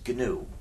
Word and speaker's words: GNU: However, when it's the name of our system, please do not follow the dictionary. If you talk about the new operating system, you'll get people confused. You see, we've been working on it for 25 years now, so it's not new anymore. But it still is GNU.